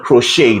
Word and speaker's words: crochet: I called it a crochet you don't pronounce it on the face value all right so it's called a crochet the t is silent and the stress is